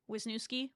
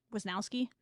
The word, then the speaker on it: Wisnowski: Cam Dicki and Cole Wisnooki was yeah Wisnowski. I say his name wrong every time.